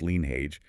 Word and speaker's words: Lynnheage: because exactly 1 year ago today, August 5th, 2025, a groundbreaking anthropodigital cyber band named Lean Hage, that's pronounced Lean Hage, emphasizing the H, dropped their debut album, Back to the End.